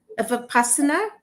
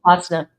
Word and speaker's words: Vipassana: So, Barbara, you pronounce it for me, please. Vipassana? Oh, Vipassana.